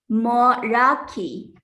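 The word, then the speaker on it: Meraki: The word of the day today is Moraki. Moraki is a noun and pronounced Moraki.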